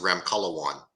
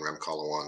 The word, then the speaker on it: Ramkhalawan: can hear it I just don't want to mispronounce it that's okay last name is REM color one my name is ramkalawan I'm actually a clinical pharmacist but um I